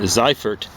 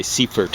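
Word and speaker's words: Seyfert: his name carl a it should be something like uh zeifert but uh they probably say seafort or something like that the americans do but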